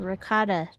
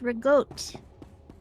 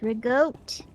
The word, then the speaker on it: ricotta: Having a bunch of ricotta trying to run things, that would just be...